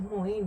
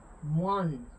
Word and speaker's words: moín: No es Moin, mi gente. En francés eso no se lee Moin. Moan. Moan. Y en el caso de nosotros lleva una nasalización al final. Moan. ¿Ves?